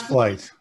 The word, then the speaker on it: Flite: dan to tell more about his flight or fleet company how should i pronounce it correctly it's flight yes but thank you material sciences uh whenever